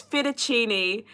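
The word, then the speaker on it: fettuccine: some like weird way and they're like it's fetuccini and he's like no it's not that's not how it's spelled and they're like yeah it's Italian but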